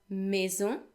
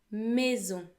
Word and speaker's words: maison: M comme maison, M comme maison. A and I in French make a vowel sound as well, and that is like an E with an acute accent. So, et, maison.